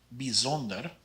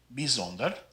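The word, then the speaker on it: bijzonder: the first word here the ij is pronounced more like an e sound so this is pronounced bizonder and the lijk ending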